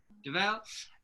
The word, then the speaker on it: Dovale: today were chatting 220 is it devale right I'm saying it correctly yeah yeah davell and is a